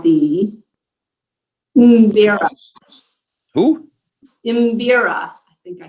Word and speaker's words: Mbira: She plays an instrument that I fail every time I try to pronounce. The oboe? No. It's called the Mbira. Who? Mbira.